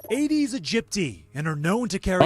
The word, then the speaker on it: Aedes aegypti: They're called Aedes aegypti and are known to carry... Oh, so I said it right. Didn't I say Aedes aegypti?